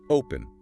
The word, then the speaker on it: open: When we say open, we stress the front. Open, because the front is heavy, the back stays light.